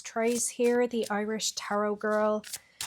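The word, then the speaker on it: Thérèse: If you're ever wondering how I spell Trace, it's T-H-E-R-E-S-E with some accents in the middle. It's French. I always say to people here in America that it rhymes with praise or that it's like trays of cookies.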